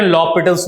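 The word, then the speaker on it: L'Hôpital: लिखिए लॉपिटल्स rule, L यहां comma और बाकी जो वर्ड है HOS PIL सॉरी PITAL, इसे हम पढ़ते हैं लॉपिटल्स रूल। H is silent.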